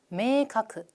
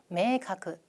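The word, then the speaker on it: 明確: 메이카크 메이카크.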